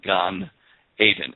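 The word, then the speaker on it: גן עדן: the Garden of Eden is gone and it's pronounced as g a h n Gan Aiden a d n and of course there is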